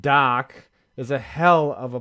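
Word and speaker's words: Dach: or Canadian either one Kirby DAP dak pronounced doc is a hell of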